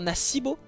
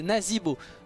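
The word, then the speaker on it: Nazeebo: là pas du tout la prononciation est bien naasbo et donc là ça pourrait dire nasbo et au final non c'est nazibo donc c'est vraiment très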